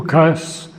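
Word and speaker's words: ukase: Now, Shriarbindo writes, "I have accented on the first syllable as I have done often with other words like occult, divine. It is a Russian word and foreign words in English tend often to get their original accent shifted as far back as possible.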